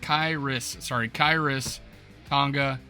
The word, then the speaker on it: Khyiris Tonga: Khyiris Tonga, pronounced Khyiris Tonga, and this is his player bio going into the draft.